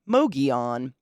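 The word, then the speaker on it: Mogollon: we begin our journey on the mogion rim pronounced mogion of Arizona The mogion Rim the rim okay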